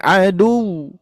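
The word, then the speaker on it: عَدُوٌّ: Tapi kalau misalkan kita mensukunkan, di wawu bertasydid harus diberikan nabar, yaitu tadi penekanan atau suaranya agak ditinggikan. Fa innahum adu.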